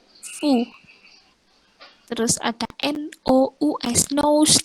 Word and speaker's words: fou: Terus ada FOU dibacanya fu. Terus ada NOUS nose dibacanya nu. Yang loop atau loop itu artinya serigala. Kalau fu itu artinya Anda. Fu, Anda. Terus ada yang FOU itu dibaca fu artinya bodoh.